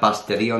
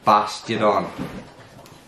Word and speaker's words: Bastiodon: No, it's not Bastidion. There's only one D.